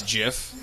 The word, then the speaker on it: GIF: somewhere in between did you know the correct pronunciation is jiff did you know it's you know it's it's